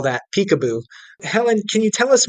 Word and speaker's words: PCAOB: And so I didn't actually know Peekaboo was the way people pronounce that acronym.